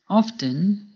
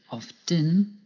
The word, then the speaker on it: often: Often can be pronounced 2 ways, by pronouncing the T, often, or by not pronouncing the T, often.